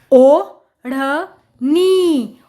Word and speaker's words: ओढ़नी: पर ये है ढ, क्योंकि एक बिंदी ने इसका उच्चारण ही बदल के रख दिया। ये है ढ और ये है ढ़, इसीलिए हमने इसका उच्चारण किया ढ़, क्योंकि ढ के नीचे में छोटी बिंदी लगी हुई है, इसीलिए हम इसका उच्चारण करेंगे ढ़। ओ ढ़ नी, ओढ़नी है।